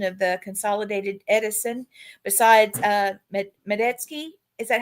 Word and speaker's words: Metesky: Besides Medetsky, is that how you say it? Yeah, Metesky.